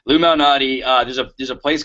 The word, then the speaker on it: Lou Malnati: My girlfriend calls it Lou Malati. She just can't say it right, but it's Lou Malnati.